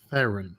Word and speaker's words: Theron: She says her name is pronounced Charlize Theron.